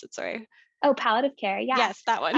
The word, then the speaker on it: palliative: don't worry um how is it related to paleoad of care that's how you pronounce it sorry oh palliative care yeah yes that one um yeah so